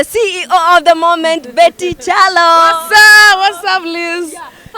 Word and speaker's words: Kyallo: I asked him one day and he said, me, yangu ni Kyallo. So who am I to change his name? Yeah. But it doesn't matter how you pronounce it. But atuntaitika, ebu nite Kyallo.